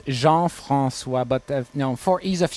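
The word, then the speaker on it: Jean-François: do I say your name in French it's Jean Francois but no for ease of use reason no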